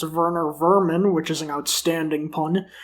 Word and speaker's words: Werner Werman: like werner werman who since he's german is actually pronounced werner vermin which is an outstanding